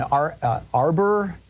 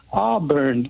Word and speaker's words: Auburn: John in Arbor, California. Am I saying it right? Auburn.